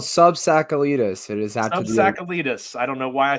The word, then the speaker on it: SubTsakalidis: It is SubTsakalidis.